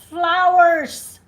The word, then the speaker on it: flowers: So yeah, it's close to flour, but it's not flour.